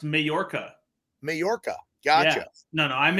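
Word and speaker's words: Mallorca: you Jamaica yeah I'm I'm in it's actually pronounced mayorca mayorca gotcha no no I'm in Utah uh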